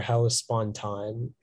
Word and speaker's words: Hellespontine: It can be Hellespontan or Hellespontine.